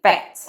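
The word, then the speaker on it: Phatz: Yeah, and I spell it p h a t z, Fats.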